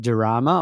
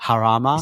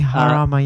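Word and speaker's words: Jarama: So, race two of 12, which is the Spanish Grand Prix, or is that Drama? I'm probably not saying it right. Probably Harama. It's probably Harama.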